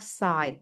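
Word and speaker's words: sight: Jadi, bacanya side ya, bunyinya I.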